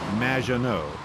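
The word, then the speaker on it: Maggot: It's M, which rhymes with badge. Uh, as in duh, and no as in more than you. Majo.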